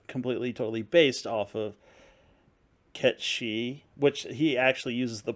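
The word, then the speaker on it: Cait Sith: He slightly is, but that's the way that everyone's been pronouncing his name. And if you see my moniker there, I use Gaelic, which is Ket Shi, which is what Kate Sith is based off of, which is a fey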